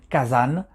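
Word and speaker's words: 火山: façon dont il est créé donc ce mot kazan qui est composé de deux qu'angie le premier qu'angie car qui se prononce cas qui représentent le feu et puis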